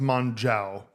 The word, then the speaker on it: Mongeau: Well, I think she gets it wrong because it's pronounced Mongeau or Mongeau. But I think it's like French or something.